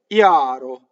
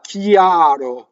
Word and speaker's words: chiaro: Notice that I-A, chiaro. It's a semi-vowel from the E position. No Y, chiaro, right? No, chiaro. No Y in between. Even though the IPA probably says is a Y, I believe, right?